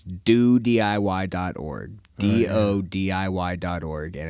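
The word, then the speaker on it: DoDIY: and it's not pronounced Duty no it's not pronounced Duty um and uh she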